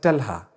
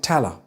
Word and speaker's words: Talha: People are going to say Talha. Some might say Tala. I've heard people say Tala in the UK.